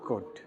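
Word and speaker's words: could: एलडी सीओ य एलटी कभी कुल्ट नहीं पढ़ेंगे उल्ट नहीं सुलट नहीं इसको क्या पढ़ा जाएगा शड उड कुड यहां त कोई दिक्कत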